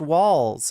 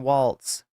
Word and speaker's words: Walz: generally a good thing walls it's just pronounced walls okay it's not Walts anyway anyway yeah it's